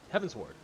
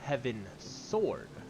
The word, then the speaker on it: Heavensward: heavensward Heaven's word heavensward I still can't say it right it's Heaven's Ward like you're heading towards the heavens but I have always thought of it as Heaven's sword even though it's s-w-a-r-d yeah you know it's